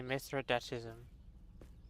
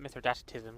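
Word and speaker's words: Mithridatism: Finally, Mithradatism. I used to call it Mithroatism because I never know how to pronounce it correctly.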